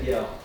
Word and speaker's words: Kjell: Geir Karlsson, Jan-Olof, and I think the K is silent, man. Yeah, Kiel. Like a gel.